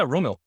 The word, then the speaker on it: Rommil: I have Rommil. I'm pretty sure I pronounced that right. Yeah, Rommil.